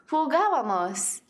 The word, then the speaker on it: jugábamos: Something to notice is that the tilde on the first A. That shows you the accent needs to go on the third syllable from the end instead of the second syllable from the end, which is the most common pronunciation for most verbs.